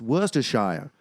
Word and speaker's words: Worcestershire: he goes he goes unless you're up in the north and it's worse to shire and i was like